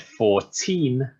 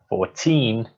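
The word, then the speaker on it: fourteen: for the final one I said 14 not 40 14 you can hear the longer sound at the end compared to 40 now these are often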